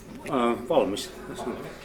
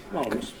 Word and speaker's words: valmis: Valmis. Valmis.